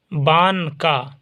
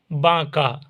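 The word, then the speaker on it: بانکا: کاف الف زبر کا، بان کا۔ دیکھیے ہجے میں بان کا آئے گا لیکن پڑھیے گا باں کا، پروننسیشن اس کا ہوگا باں کا۔ جھیوا پہ جھو، نون،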